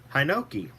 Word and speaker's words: Hinoki: are the Royal Hawaiian Sandalwood, the Kuai, and Hinoki. I actually found out that that's the correct way to pronounce it.